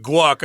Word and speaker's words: Kwok: They published a letter written by a Dr. Homan Kwok. I went with guac. I believe guac. That's the Cantonese pronunciation. Yeah, he's definitely, that was my guess, definitely Cantonese, we can tell.